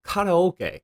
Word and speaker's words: karaoke: is in fact karaoke notice that I said karaoke and not care Yoki it's original spelling is the first syllable is actually a kanji meaning Sky empty